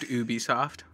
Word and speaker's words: Ubisoft: I think technically pronounced Ubisoft.